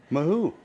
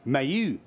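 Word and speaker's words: Mahut: The pronunciation of Nahu. Mahu. Nicola Mayu. Mayu.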